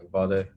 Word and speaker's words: Uvalde: So my thoughts go out to all those in Uvalde, I think, is that how you pronounce it? Yeah, Uvalde, Texas, to that community.